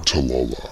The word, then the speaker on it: Tallulah: I made a new friend, Tallulah, whose name I mispronounced in my video. Tallulah.